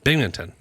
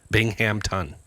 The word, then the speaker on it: Binghamton: Bingington. Bingmpington. Bingington. Bing Bingham. Bingham. You're close. Yeah. I'm like, is he saying Bington? Binghamton.